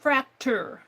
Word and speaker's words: Fraktur: r a k t u r fra it's pronounced fractor and it is um really like U it's